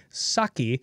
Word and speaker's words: Psaki: The P, Saki, is silent.